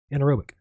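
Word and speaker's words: anaerobic: anotic oh an how do you say anorob anorobic thank you anorobic digestion the solid material remaining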